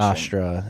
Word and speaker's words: Nostr: So Nostr or Nostr or no one knows how to pronounce it. There's no correct pronunciation. Nostr is how JB55 pronounces it.